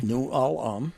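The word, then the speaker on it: New Ulm: and they're playing uh new Alum as you say new Alum bre three syllables number two seed is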